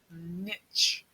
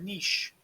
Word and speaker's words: niche: about the Madonna and her niche. Okay? Or niche, depending on how you pronounce it. I will probably pronounce it lots of different ways.